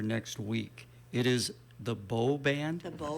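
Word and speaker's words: Beaux Band: Before I let you go, I want to make sure I get the pronunciation correct for next week. It is the Beau Band?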